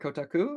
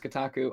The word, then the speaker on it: Kotaku: Well, thing is it's it's Japanese syllables and there's no stress to my understanding in the Japanese, so each syllable has equal stress. Um, so I try and say it kotaku like like without any stress, but I might also